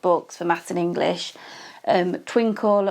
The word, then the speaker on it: Twinkl: Twinkle website, which is spelled TWINKL, is also brilliant, again curriculum based, and at the moment I think they've got an offer on.